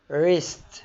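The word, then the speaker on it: wrist: اللي هي يكتب وكتب رون اللي هو خطا ريست اللي هو المعصم بتاع اليد را راب اللي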